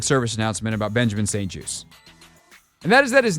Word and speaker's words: Juste: And that is that his name is said Benjamin St Juste, as in a juice box, as in apple juice, orange juice. It is French-Canadian, or Canadian-French, more specifically. There's no T pronounced.